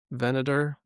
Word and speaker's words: Venator: Venator, what the Venator, big yep.